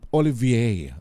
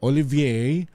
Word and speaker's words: Olivier: Ano ho ah dapat tama yung pronunciation natin ma'am Yat. Ah Olivier Olivier ah para ah o kasi yung mga baboy nila roon ay naka-cartier.